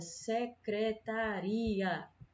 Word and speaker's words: secretaria: joelho certo olha mesma coisa acontece na palavra secretaria Secretaria é diferente da palavra secretária certo na